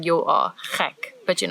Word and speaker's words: gek: And gek is also a bit of a gek word to know because it's like the ch sound and the ek, which means me. So it's like you're saying you are gek, but you're not really.